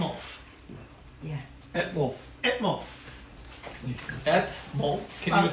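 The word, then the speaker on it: Etmulf: name a boy name aolf yeah molf molf ET molf can you spell it out please e t m u l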